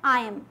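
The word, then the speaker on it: I'm: आइम या फिर आई एम, दो प्रोनाउंसिएशंस होती हैं इसके।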